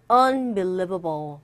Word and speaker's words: unbelievable: Unbelievable. 발음이요. Unbelievable. Unbelievable. 이 부분에 강세 있죠? Unbelievable. 그래서 발음하실 때 unbelievable 하지 마시고 강세를 정확하게 줘보세요. 그러면 조금 더 수월해집니다.